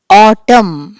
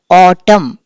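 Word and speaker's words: autumn: ఆటమ్. AUTUM అంటాము. ఎన్ని మనము పలకం, ఆటమ్ అని చెప్పి అంటాం. సో N ఈజ్ the silent letter.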